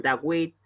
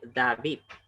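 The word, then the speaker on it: דוד: perdón, a nuestra W, pero no suena como la W de Washington. Por eso, aquellos, por ejemplo, que pronuncian Dawit, aquellos que dicen Wyomer, eso es incorrecto.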